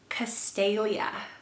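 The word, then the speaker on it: Castalia: is predominantly a girl's name and it is castelia castelia what do you guys think of that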